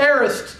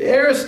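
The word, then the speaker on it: aorist: I planted he used what we call the arist tense now we we probably won't get very much into this but the a is spelled a o r i s t in the English language the aist tense is what we call the simple past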